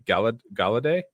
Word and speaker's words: Gallaudet: And it brought together experts like retired Rear Admiral Tim, I guess it'd be Gallaudet? Yeah, that's how I was pronouncing it. Like French, right? Yeah, very French.